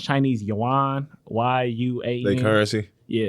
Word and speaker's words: yuan: I think it's pronounced Chinese yuan, YUAN.